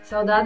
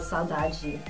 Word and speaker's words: saudade: How do you say it again? Saudade. Or like, yeah, Brazilian style saudade.